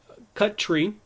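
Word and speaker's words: cutree: actually cut tree uh I guess they just didn't want to put two T's together so we say um uh cut tree I'll pronounce as cut tree and then uh for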